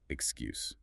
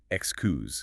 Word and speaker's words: excuse: That S in the middle of excuse. Many learners say it with a soft S sound, like excuse. Etkusu. But when you're using it to get attention, it should have a vibration. It's a Z sound. Excuse. Feel that buzz in your throat.